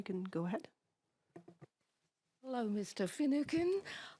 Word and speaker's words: Finucane: Finucane. Hope I'm pronouncing your name right. You are indeed, yes.